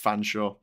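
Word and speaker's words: Featherstonhaugh: oh there you go Feathering featherston Hall is pronounced fansa there's another mad one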